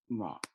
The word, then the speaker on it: sigma: Okay, pronounced like sigma.